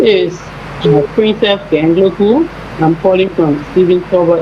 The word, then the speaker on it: Gangloku: My name is Princess Gangloku. I'm calling from Stephen Tower Estate. Okay, Princess, what's your last name again? Gangloku.